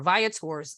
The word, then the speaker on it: Viator: because I've been saying Viator but it's Viator via tours link right and by the way it's Viator